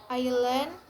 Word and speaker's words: island: S is silent in the word below. For example, island, isle, and debris.